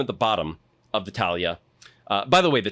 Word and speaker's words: talha: you put them at the bottom of the talha. Uh by the way, the talha is t a l h a, but you always pronounce the h like a a y in Portuguese, so it's talha.